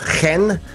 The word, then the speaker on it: Chen: And I said, Chen. And he told me, how? And I told him, you know what? It's like you're throwing up and stop in the middle.